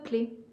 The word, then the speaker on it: clef: ne l'entends pas elle y est dans le mot mais on ne le prononce pas bon de l'entendre certaines personnes qui disent clefe mais c'est pas dans notre région à côté nous avons